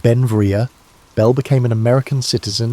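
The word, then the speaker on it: Beinn Bhreagh: Pronounced Benvia, Belle became an American citizen in 1882, but his name meaning beautiful mountain in Scottish Gaelic showed his Scottish heritage.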